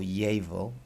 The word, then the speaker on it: llevar: Jabil gaff us and the Double L in Spanish if you want to keep it simple is like a Y sound so behave be able or llevar gaff ass if you